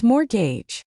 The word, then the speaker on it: mortgage: Mortgage. This is a big one. It's mortgage. That T is totally dead.